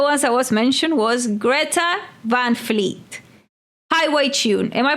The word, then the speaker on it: Greta Van Fleet: And one of the ones that was mentioned was Greta Vanfleet Highway Tune. Am I pronouncing the name correctly?